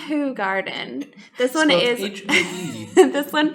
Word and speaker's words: Hoegaarden: garden this is the hoe garden get your hose here so welcome to the wrong it's actually pronounced who garden this is based off